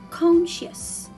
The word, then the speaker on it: conscious: a silent letter and here conscious conscious i will not again read letter c because it comes after letter s discipline sorry discipline discipline